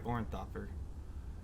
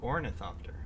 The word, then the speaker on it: ornithopter: the temporary helicopter or sorry oranthopper orin thopter ornithop ornithopter oh i was saying it wrong the whole time on duty things are